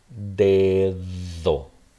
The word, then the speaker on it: dedo: So this would be dedo, just like that. So dedo. But as soon as I add the article, then I have el dedo. They're both THs in the word the.